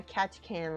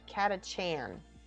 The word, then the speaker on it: Catachan: very nearly finished my catch can lady cool catch catachan sorry i miss mispronounce that glasses are off currently